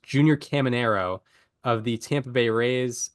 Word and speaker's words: Caminero: I was Caminero. so close. I'll just reveal right now he's not on my list, but I was so close. I really wanted to. Yeah, excuse me, I mispronounced. Junior Caminero of the Tampa Bay Rays.